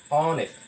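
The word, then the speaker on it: honest: অনেস্ট অনেস্ট অনেস্ট অনেস্ট কি অনেস্ট এর মত উচ্চারণ হছে ও এর মত উচ্চারণ হয়েছে ও এর মত উচ্চারণ হয়েছে এর মত উচ্চারণ হয়েছে এজন্য ও কি একটা ভায়েল ও একটা ভায়েল তাই আমরা ও এর আগে কখনো দা ব্যবহার করতে পারব না এখানে অবশ্যই ব্যবহার করতে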